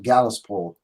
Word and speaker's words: Gallows Pole: Gallows Pole yeah yeah but I think leadbelly's pronounced at gallus poll it's that sort of Southern okay cool but maybe